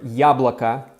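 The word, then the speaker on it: яблоко: times you'll notice that unstressed o's sound totally like a's. But, when it comes to telling the gender of a noun, you must always go by spelling. So, since the word yabloko is spelled yabloko, the last letter being o, it is neuter.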